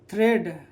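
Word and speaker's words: thread: याद रखिए, अगर ए के पहले ई हो तो ये क्या हो जाएगा? साइलेंट। जैसे कि थ्रेड, THEAD, तो ये ई के बाद ए है ना, यानी ए के पहले क्या है? ई है, तो ए क्या हो जाएगा? साइलेंट। तो थ्रेड पढ़ेंगे, क्या पढ़ेंगे इसको?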